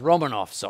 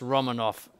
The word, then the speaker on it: Romanov: 1600s and at first romanovs are i shouldn't say first romanoff sorry and by the way in russian that's pronounced romanov the first romanoff uh